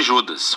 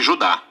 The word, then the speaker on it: Judas: A carta de Judas, ou mais precisamente Judá, de acordo com a pronúncia do seu nome, tanto em grego como em hebraico.